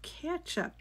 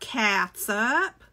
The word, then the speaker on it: ketchup: You're gonna need a 1/2 cup of ketchup. This says catsup. It's not catsup. It's ketchup. That's what I say.